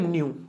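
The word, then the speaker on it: nu: जिन बच्चों को नहीं पता इसको बच्चों पढ़ते हैं न्यू, है ना, न्यू, जैसे न्यू ईयर आ गया ना अभी, तो ये न्यू, लेकिन इसकी स्पेलिंग लिखेंगे NEW नहीं NEU, ठीक है।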